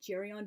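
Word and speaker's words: Geryon: humans and such um I've heard some people pronouncing it jerion but because the name is Greek and origin I presume it has a hard G so carry on but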